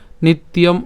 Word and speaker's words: নিত্যম: এরপর নিত্যম, ইয়ম কেন? এখানে কি আছে? জফলা আছে। আর আমরা জানি যে জফলা থাকলে তার উচ্চারণ কার মতো হবে? ইয়র মতো হবে। তাহলে এটাকে আমরা যদি ভেঙে উচ্চারণ করি তাহলে উচ্চারণটা কেবল নিত, জফলা উচ্চারণের জন্য হচ্ছে ইয়, এবং এখানে যে ম আছে তার উচ্চারণ ম হসন্ত, ঠিক আছে, নিত ইয়ম।